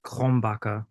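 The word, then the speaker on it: Krombacher: How do you pronounce it? Krombaka.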